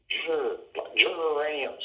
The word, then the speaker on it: geraniums: I said, that's a soft G, a George, gentle, not a hard G. There you go. Oh, geraniums.